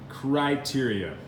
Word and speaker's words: criteria: eat right and English it's not creates cry criteria criteria criteria and Spanish translation videos it is